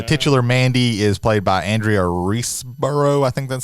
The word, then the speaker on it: Andrea Riseborough: So Nicolas Cage, and then the titular Mandy is played by Andrea Riseborough. I think that's how you pronounce her name. Andrea Riseborough, yeah.